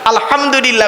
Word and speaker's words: আলহামদুলিল্লাহ: আলহামদুলিল্লাহি রাব্বিল আলামিন। আলহামদু, হাই হুটি, হাই হাব্বাজ নয়। আলহামদুলিল্লাহি রাব্বিল আলামিন। আলহামদুলিল্লাহ, গলার ভেতর থেকে হ্যাঁ এটা উচ্চারণ করবেন দয়া করে।